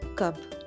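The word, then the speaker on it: कब: Then friends, the Hindi equivalent for the word when is kab. Ka ba. Kab.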